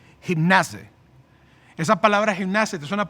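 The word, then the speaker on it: γύμναζε: Aquí la palabra ejercítate es una palabra en griego que se pronuncia como gimnase.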